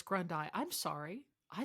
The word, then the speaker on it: Grundai: also on LinkedIn awesome I think I said Grundy before so it's grundai I'm sorry I said